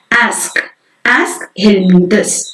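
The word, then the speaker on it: Aschelminthes: How to pronounce this word? Aschelminthus.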